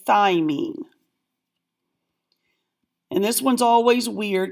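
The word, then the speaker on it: thymine: cystin say it cysteine thyine like you're eating a chicken thigh same kind starting out the same way so try to say thyine and this one's always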